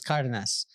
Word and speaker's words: Cardenas: But she always said that it was Cardenas, which it is.